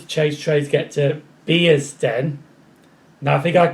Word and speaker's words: Bearsden: We're going to be there all day till I got the pronunciation right. Luckily I did, so it's Bearsden.